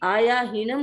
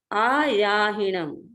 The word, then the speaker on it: आयाहीनम: मैंने प्रसंग में आयाहीनम इसलिए बताया कि जो व्यक्ति आयाहीनम बोलते हैं वो रॉन्ग प्रोनाउंसिएशन है, वो गलत प्रोनाउंसिएशन है, वो सही नहीं है। सही है आयाहीनम। आ का अलग से याहीनम, ये 2 शब्द है।